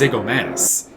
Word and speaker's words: Zigomanis: 1, and 2, his last name is super easy. It's just Zigomanis.